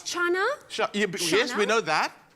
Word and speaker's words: chana: It's Chana. Yes, we know that. How's it, Chana? No, not Shana.